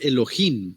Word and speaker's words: Elohim: este es como la palabra 430 que dice Elohim Así es como se pronuncia es plural dice dioses en el sentido